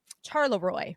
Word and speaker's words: Charleroi: Charleroi is how it's pronounced, I believe.